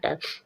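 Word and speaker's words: tongue: कोई साउंड नहीं आएगा टंग जब भी ध्यान रखो जी के बाद यू आए तो आप जी के बाद यू आए तो यू साइलेंट रहेगा और क्यू के बाद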